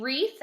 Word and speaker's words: wreath: you might hang that on your door okay wreath ah let's do one more wrong wrong like